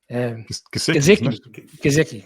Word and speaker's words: Gesicki: I'll let you pronounce Colin. The name escapes me. Big guy that Mark Cochran used to love. Gesicki.